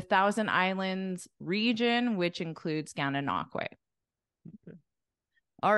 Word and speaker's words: Gananoque: How do you pronounce this one? Gananoque.